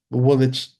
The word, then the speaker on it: Woolwich: But there are certain words that you look at it and you go, that Woolwich. Woolwich is Woolwich. Where did the W go?